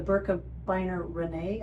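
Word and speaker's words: Birkebeinerrennet: That's the Burka Biner Renee, I think is how it's pronounced.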